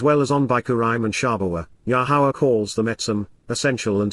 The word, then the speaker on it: Yahowah: significance of Peel imperative yahwah yahwah the proper pronunciation of yahwah our eloa God has directed in his Torah